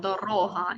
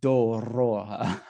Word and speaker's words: дорога: Doroga, yeah. Okay. Okay, so anyway, we lay the foundations, then we fix the pronunciation. Doroha.